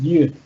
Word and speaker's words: you'd: Entonces para el segundo, que es yud, es yud, yud, yud.